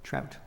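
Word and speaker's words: Traudt: T-R-A-U-D-T. Trout. Sounds like the fish, but not spelled the same.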